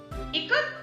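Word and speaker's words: Ikat: Janaki teacher said it is pronounced as I, Ka as in Kamala and T. Ikar is an Indonesian term meaning to bend or not.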